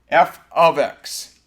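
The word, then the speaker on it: f(x): write it like this when you have f with parentheses and an x inside the parenthesis that's called function notation that's pronounced f of x so f of x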